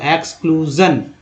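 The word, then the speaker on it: exclusion: गया, क्लू हो गया, एस को यहाँ ज पढ़ा गया है तो आई एस आई ओ एन को जन पढ़ते हैं, है ना, सन नहीं पढ़ेंगे तो एक्सक्लूजन, एक्सक्लूजन।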